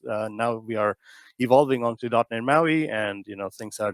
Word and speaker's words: MAUI: has been an evolution it's multi-platform app UI the p is silent because Empower does not sound very well Maui is so much cooler